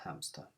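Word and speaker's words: hámster: the english word but you don't pronounce that h unamster a hamster next few words we're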